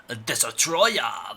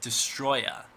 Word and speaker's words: Destoroyah: I also want to point out that it's not pronounced Destoroyah, like James Ralph, the angry video game nerd, pronounces it. It's not pronounced like that.